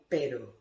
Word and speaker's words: pero: The famous typical example of perro and pero. Perro, a dog. Pero, but. Okay? So that is regarding the pronunciation of these letters.